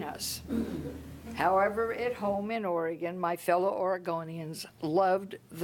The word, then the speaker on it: Oregon: four years made reference to my return to oregon a pronunciation I had corrected with him over and